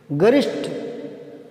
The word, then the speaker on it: गरिष्ठ: गरिष्ठ, इसको सही बोलना सीख लो ना, गरिष्ठ, ये भी ठे होता है, गरिष्ठ।